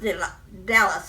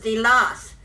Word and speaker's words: Delos: saying about delos uh his name was not pronounced the dallas it was the loss and every time i hear it said delos it bugs me because i knew the